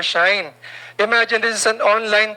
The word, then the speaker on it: Shein: Yes, other pronounces that Shein, or Shine.